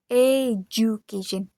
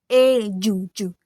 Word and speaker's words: education: I pronounce two part as J with J. J. J with J in Indonesian. With J. Education. And the correct pronounce is aation. So to is so part is pronounced ju I'm sorry ju education not ju but jucation education. This mistakes happens because I think the D sound is disappear but it actually it is just blends and become J sound.